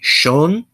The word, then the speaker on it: shon: And then we have shon, which means to go, and that SH is pronounced pretty much like a normal English SH.